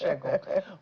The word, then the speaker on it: Segun: SH, I think. Yes, but it will be pronounced Shegun.